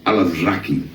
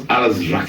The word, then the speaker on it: Alazraqui: And the cat I have right now with me is, first of all, his name is Carlos Alazraqui. Carlos Alazraqui. That's good to hear it pronounced correctly.